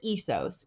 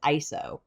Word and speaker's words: ISO: like an acronym is, it should actually be pronounced as a single word and is commonly referred to as ISO.